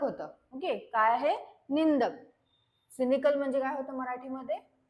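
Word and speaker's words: cynical: सी ए L okay याच प्रोनन्सशन कसा आहे तर सिनिकल पहिला जो सी आहे त्याला स म्हणून प्रोनान्स करायच आणि दुसरा जो सी आहे त्याला क म्हणून प्रोनान्स करायच आहे सो सिनिकल अस हे प्रोनान्स करण्यात येते वर्डला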